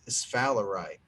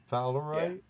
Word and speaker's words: sphalerite: It's sphalerite. Fowlerite? Sphalerite. Don't make me spell it.